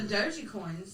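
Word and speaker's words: Dogecoin: the gold and i i realize that i'm saying it wrong please don't message us i will say what wrong no doji coin is right they've already come out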